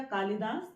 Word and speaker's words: कालिदास: कालिदास की तो कालिदास क्योंकि उच्चारण हमने किया कालिदास तो ल पर इ की मात्रा लगेगी ई की मात्रा नहीं लगानी है और नेक्स्ट है कोटि